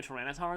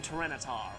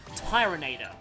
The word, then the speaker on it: Tyranitar: not very effective on Tyranitar, or as I called it as a kid, Tyranator. I still wish that was the official pronunciation, because that would be so cool.